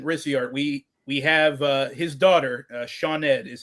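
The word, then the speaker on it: Sioned: We have his daughter, Shawned is how her name is pronounced, even though that's not how it's spelled because Welsh is an insane language that doesn't make sense.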